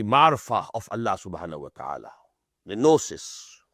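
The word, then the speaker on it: gnosis: ऑफ अल्लाह सुान ताला नोसिस this is written with ji but pronounce without ji गोसिस नो नोसिस नस्टिक्स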